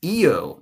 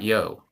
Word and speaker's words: Io: It's pronounced either with two syllables, a short I and long O, or as a single syllable, with the I becoming the Latin consonantal J and pronounced yo.